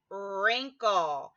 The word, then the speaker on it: wrinkle: WR says her in wrinkled so the W is basically not even there it's there but it's not there it's there but it's